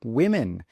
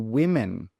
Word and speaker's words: women: The next one is woman, 1 woman, 2 women. Note that pronunciation, 1 woman, 2 women.